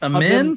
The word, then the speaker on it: Amen: So it's Amen. So I'm gonna have to learn a new pronunciation of Amen. Amen.